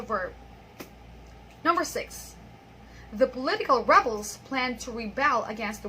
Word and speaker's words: rebel: Okay, so the first one there is a verb, and the second one is a noun.